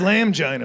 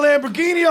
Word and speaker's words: Lamborghini: That says Lamgina, man. That's how it's spelled. Oh. Y'all need to get a Lamborghini off a building.